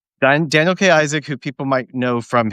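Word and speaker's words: Daniel K. Isaac: his name correctly I have Daniel K Daniel K Isaac Daniel K Isaac who people might know from his uh recurring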